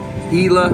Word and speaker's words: Gila: is pronounced Gila monster even though it's spelled g-i-l-a it's pronounced Ela monster this is a